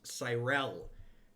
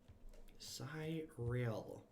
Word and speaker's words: Tyrell: really good you live my name is pronounced Tyrell Tyrell sigh real and thanks for the